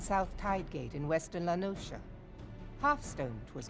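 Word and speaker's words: La Noscea: a hamlet Beyond South tide gate in Western lanosa half Stone was called It's pronounced lenosa I've been called it lenosa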